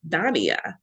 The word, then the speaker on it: Daniyah: And so I spent decades not making people call me by my actual name, Daniyah.